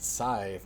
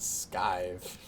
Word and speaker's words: scythe: They're like, it's pronounced scythe, not scythe.